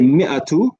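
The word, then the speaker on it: مائة: Here we can see the alif is written, but we don't pronounce it. So we say mi'atu rajulin, which means 100 men.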